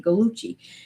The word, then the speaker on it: Gallucci: But thank you for telling me how to say galuchcci.